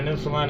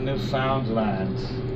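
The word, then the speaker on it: Newfoundland: now a scoff as a dance and a new Finland a blue star as a beer and it's pronounced New Finland not New Foundland or New Finland New Finland is the oldest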